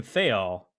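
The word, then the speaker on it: Thayil: and chris cornell and i believe it's pronounced kim thale is that wrong you're correct okay there we go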